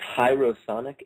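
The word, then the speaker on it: Hierosonic: name of your band it's hyrosonic h-i-e-r-o-s-o-n-i-c all one word and hiro like hieroglyphic stands for sacred and sonic stands for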